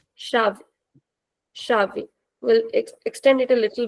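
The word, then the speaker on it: chave: So ch gives a sound of sha. We read the example shavei.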